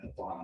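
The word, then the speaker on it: Pawan: Vaughn. P-A-W-A-N. That's how it's, got that right? That's how it's spelled. Yeah, that's how it's spelled, but it's pronounced Vaughn.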